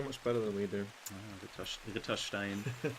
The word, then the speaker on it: Ritterstein: The trick is just pronounce it exactly the way that it's written. Mm-hmm. There are no silent letters in there, no silent vowels, nothing. It's just exactly as it is written.